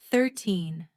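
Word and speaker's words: thirteen: For example, 13 has the stress at the end, 13, but 30 has the stress at the beginning, 30.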